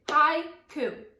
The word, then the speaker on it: haiku: So for example, if I wanted to find out how many syllables were in the word haiku, I could say haiku. So there are two syllables in that word.